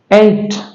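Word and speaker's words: eight: उसी तरह से ई आई जी एच टी एट ई आई जी एच टी एट ये इसका उच्चारण हो जाएगा।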